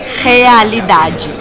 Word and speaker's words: realidade: Bueno, ahí la R tiene sonido de J al comienzo, entonces sería realidade.